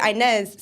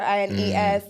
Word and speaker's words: Inas: whatever, but because obviously I would say Inez, so people would think it would be spelled INEZ or INES, like the Spanish way or whatever, but like and I love the way Spanish people say my name because they say Ines, which is almost like Inas, and I love the